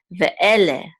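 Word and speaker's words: ואלה: the word, and this is a lamed with a segol and a hey which says le. Ve'ele, ve'ele, which means, and these are, ele is these, okay?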